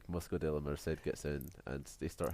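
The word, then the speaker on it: Mosco de la Merced: Yeah, when I said we figured out, like, I figured out how to pronounce that because of the very helpful commentary. But on paper it looks like Moscow de la Merkt.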